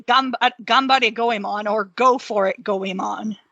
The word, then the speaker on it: Goemon: Mystical Ninja starring Goemon. Yeah, for N64. And that is how you pronounce the name, Goemon. Okay. That is how you pronounce it, Goemon.